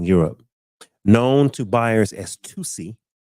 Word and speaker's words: Tusi: Known to buyers as Tusi, pronounced 2C, like two and the letter C, Tusi, and by the media and police known as pink cocaine, even though it contains no cocaine.